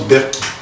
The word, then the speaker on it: Berkey: Et c'est un Berky. Ça s'écrit en fait B-E-R-K-E-Y, mais ça se prononce Berky.